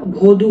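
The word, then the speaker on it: воду: আমরা এর আগেও অনুগ্রহটা পেয়েছি, অনুগ্রহকে কি বলা হয়, মলিমভাস, মলিমভাস, পানি দিনকে বলবো ভধু, ভধু, তখন বাক্যে প্রয়োগ করলে ওই ভোদা উচ্চারণ হবে না, ভধু হবে।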